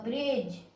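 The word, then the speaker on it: bridge: तो पिला माने एठी हमरो डी भी साइलेंट रहिबो, एठी हमरो ई भी साइलेंट रहिबो, मने रखिबो। बी आर row sound is ब्रो, आई row sound is ब्रो ई ब्रे, जी आगरे ई रहिले जी रो साउंड हमरो जो होबो, ब्रिजो ब्रिज।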